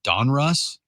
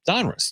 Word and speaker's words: Donruss: It's Donruss. Donruss, dude.